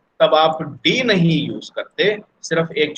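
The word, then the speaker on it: ∂: ये जो डॉ सिंबल यूज करते हैं इसका प्रोनाउंसिएशन है डी ए यू। ये जो सिंबल है दिस इज रेड एज डॉ, ठीक है?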